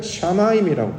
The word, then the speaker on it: 샤마임: 일반적인 단어는 이제 마임, 이게 물인데, 하늘은 샤마임이라고 발음을 해요. 히브리어로.